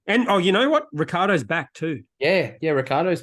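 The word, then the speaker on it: Ricciardo: you know how it's spelled rickardo but it's pronounced Ricardo it was just it was as if someone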